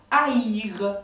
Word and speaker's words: haïr: Aujourd'hui, le tréma nous sert pour ce qu'on appelle un hiatus. C'était deux voyelles qui se prononcent ensemble l'une après l'autre, comme le verbe haïr. Par exemple, le verbe haïr, vous avez deux petits points sur la lettre I, ou le mot Noël.